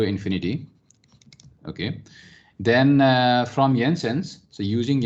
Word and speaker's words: Jensen: okay then uh from yensens so using ensign remember we don't say jensen okay we call it jensen because he was a dutch guy so j is silent there okay not silent but